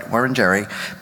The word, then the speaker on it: Wurundjeri: the land on which we meet, and the Wurundjeri, let me say it right, Wurundjeri, people of the Kulin Nation, and pay my respects to the elders past and present.